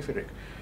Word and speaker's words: Pyrrhic: Is it Pyrrhic or Phyrrhic? Pyrrhic. Let's say Pyrrhic.